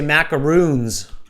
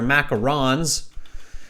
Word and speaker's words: macaron: trouble including myself is macarons okay people say macaroons they're not macaroons they're macarons and they're quite a complex